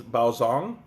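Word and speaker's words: Baozhong: from China or Taiwan pronounces Bao song in Mandarin it is the lightest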